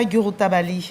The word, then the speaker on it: Djouroutabali: Vous venez de publier Mansa Yorotabali. C'est un nom malinqué. Dites-nous. Tout à fait. Et vous le prononcez tellement bien.